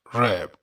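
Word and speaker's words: wrap: डब्ल्यू इसमें silent होगा, रैप।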